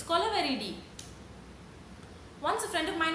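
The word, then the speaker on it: Kolaveri Di: We don't interrupt your flow when you're singing Kolaveridi. It's not Kolaveri, it's Kolaveridi.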